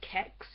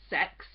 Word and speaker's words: CeX: have to call it kex because it's spelled CeX or some of us just call it C ex but it's pronounced sex but some people when